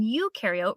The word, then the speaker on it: eukaryote: rhymes with no and you in eukaryote rhymes with do prokaryotic cells have no